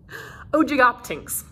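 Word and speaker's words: Ogygoptynx: generally accepted as oldest is ogoptanks there's a pronunciation guide here's what it looks like oh jig optings it was named for ojikis the greek mythical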